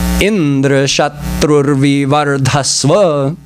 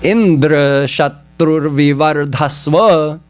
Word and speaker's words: Indra Shatrur Vivardhasva: In other words, emphasis in the beginning. Indra Shatrur Vivardhasva.